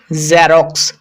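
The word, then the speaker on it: Xerox: এটা কিন্তু বর্গীয় জ এর সাউন্ড নয়। যেমন আমরা অনেকে বলি জেরক্স কিন্তু এটা জেরক্স ন এটা উচ্চারণ হবে জেরক্স জেরক্স জারক্স একটু ভালোভাবে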